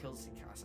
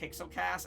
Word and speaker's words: Killas: I'm uh how' you pronounce it uh killas oh killas I always say Kass and that's so wrong so I'm uh I'm